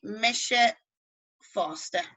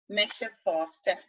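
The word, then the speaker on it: mise fosta: You say Misha Foster. Misha Foster, me too.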